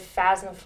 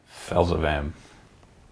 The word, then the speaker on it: Phelsepham: Trenches of Felzafan. What? Oh my god. Felzafan. Okay. Felzafan. Right? Felzafan. Okay. There's a Felzafan. Felzavam.